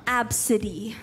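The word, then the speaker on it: ABCD: Alam mo kung paano mag-pronounce yun? Absidy.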